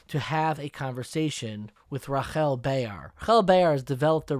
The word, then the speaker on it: Rahel: this interview guide me no it's pronounced rachel i thank my parents